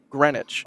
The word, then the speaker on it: Greenwich: pronounce these words but I believe you just leave syllables out so grenwich wow appar it's 100% correct